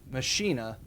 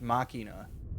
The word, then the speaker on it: Machina: And so then he said Machina, but that's typically pronounced Machina. Like, again, pronounce things properly, please.